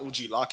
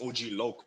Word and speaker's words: OG Loc: gotta say it correctly it's not OG lock it's OG Lok bro oh OG Lok yeah